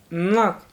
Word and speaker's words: NOC: Notes this article use is the convention that NOC is pronounced knock.